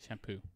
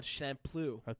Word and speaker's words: Champloo: Shampoo. It's Champloo. There's no That's how they say it. It's champ, so CHAMPLOO. Champloo.